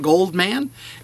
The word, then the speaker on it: Goldman: and one last note I do pronounce my name funny it is easy to spell it is kind of rhyming right Norman gold man and it is kind